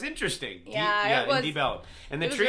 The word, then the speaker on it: Deep Ellum: It's Deep Ellum, but Yeah. everyone just says Debellum. Yeah. Almost like one word, Debellum. Yeah. Like with a B.